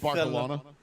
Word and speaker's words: Barcelona: It's Barcelona Barcelona. It's You got to say it with like a lisp. It's Barcelona.